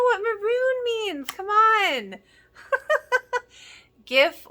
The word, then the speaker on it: GIF: maroon means come on GIF or GIF apparently I've been saying it wrong I always say it with the G but apparently it's good to know that it's supposed to be with AJ and it was pretty